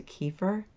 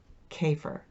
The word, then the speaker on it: kefir: I've gotten used to kefir oh wait a minute I'm saying it wrong it's kefir okay so I I'm learning